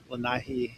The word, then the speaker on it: Lanai: Let's see, there's Maui, Lanai, Lanai is how they pronounce it in Hawaiian, Molokai.